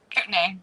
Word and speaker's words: Kootenai: How do you pronounce it? Kootenai? Kootenai, yeah.